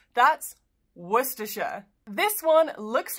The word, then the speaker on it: Worcestershire: Famous for the sauce, this place name isn't pronounced Worcestershire or Worcestershire. It's pronounced with just three syllables. That's Worcestershire.